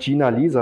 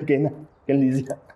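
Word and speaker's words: Genlisea: Zuerst Gina Lisa habe ich gelesen, als statt Gen Lisa. Wie spricht man es aus? Gen Lisa. Gen Lisa, ja. Gen Lisa, genau.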